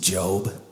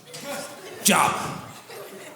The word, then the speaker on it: Job: Y'all don't even say his name right. Job. No, it's Job.